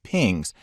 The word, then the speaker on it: PNG: a later movie a png or portable network graphics files often pronounced as pings are kind of hybrid